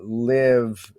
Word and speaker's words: live: eat and live yeah that word is is spelled the same way and pronounced two different ways so yeah it can it can be uh live or live depending on the sentence